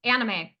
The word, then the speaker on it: anime: a an i M how do you pronounce that a n i m anime okay so she had